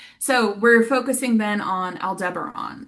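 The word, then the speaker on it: Aldebaran: So, we're focusing then on Al Deberon. Oh, that's how you say it right. Al Debron, which is the Watcher of the East.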